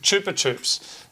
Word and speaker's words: Chupa Chups: chup Chups Chupa Chups I found out it's pronounced good Chupa Chups they sent us this